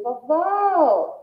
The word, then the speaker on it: vovó: gente já identifica que a sílaba tônica é a última sílaba, né? É uma palavra aí oxítona. Então, vovó, vó, o vó que vem depois. Aí a gente já percebe o O com som aberto, então por isso vovó,